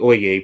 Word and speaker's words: Oyez: And I really do suggest that if you have the time to go look up the Oye Project, that's spelled Oyez, and just listen to some of these arguments.